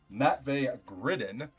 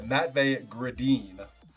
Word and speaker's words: Matvey Gridin: Matvey Gridden.